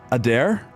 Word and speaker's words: Adair: I hope I'm pronouncing the last part right. Adair? Yes, Adair. I know it's kind of a mouthful there. Okay, Adair.